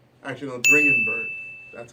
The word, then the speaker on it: Dringenberg: Anyways, when she was first created, she was created by Neil Gaiman and Mike Dingenberg. Actually, no, Dringenberg. That's how you pronounce his name.